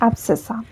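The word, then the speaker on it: abscissa: इसकी स्पेलिंग यह होती है ए बी एस सी I double S ए और इसको प्रोनाउंस किया जाता है एब्सिसा एंड वाई को वाई कोऑर्डिनेट को बुलाते हैं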